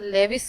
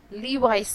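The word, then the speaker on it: Levi's: दूसरा ब्रांड है हमारे पास इसे अक्सर लोग लेविस कहते हैं, लेकिन ये लेविस नहीं, इसे लीवाइस कहते हैं। लीवाइस। क्या कहते हैं? लीवाइस।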